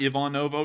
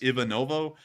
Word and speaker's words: Ivanovo: call it ivanovo but it's not Ivan noo it's Ian noo um but for some reason I catch myself halfway through saying Ivon noo and then I go ivanovo so it just it's butchered every time sorry about that but